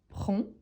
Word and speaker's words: prends: 7h je prend je prend n'oublie surtout pas qu'il en a le 2 S à la fin d S pourtant on ne les prononce pas donc on prononciellement prend j'ai prend mon petit-déjeuner